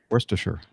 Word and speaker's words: Worcestershire: Worcestershire. Worcestershire, yeah. Worcestershire sauce, yeah. Yeah. Worcestershire. But it's spelled. I pronounce it in the same way you'd say Windshire. So Leicestershire, Windshire. Yeah. Windshire, Hampshire. Leicestershire.